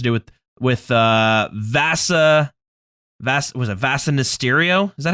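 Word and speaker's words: Vasa Nistirio: Was it Vasa Mysterio? Is that how you pronounce it?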